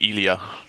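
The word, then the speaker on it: Eliasz: it's yeah I guess in English it's Elijah in Polish is gonna be Elia just I I went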